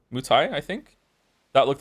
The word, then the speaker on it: Muay Thai: I'm most interested in is it called pronounced Muay Thai? Muay Thai, I think. That looked like the most interesting one to me. Mai Tai?